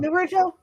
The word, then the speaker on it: Naruto: uh Naruto I or how do you say it narado Naruto is it Naruto Nar okay thank you um Naruto I have